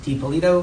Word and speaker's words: DiPolito: DiPolito, am I saying it correctly?